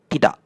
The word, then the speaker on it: tidak: So for example in Malay this the word tidak. Notice how I didn't say "ti-dak-k". I say "ti-da' "so that's the the right way of saying it and this is atuk.